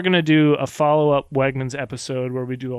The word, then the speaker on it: Wegmans: Does it rhyme with Hegmans? Indeed it does. We went to the Brooklyn Navy Yard Wegmans.